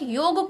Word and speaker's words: योग: लेकिन इसका उच्चारण, इसका प्रोनाउंसिएशन योगा नहीं होता है, योग, योग, पूरा ग को आधा भी नहीं करना है, योग भी नहीं कहना है, योगा भी नहीं कहना है, योग, पूरा प्रोनाउंसिएशन इसका ये होता है।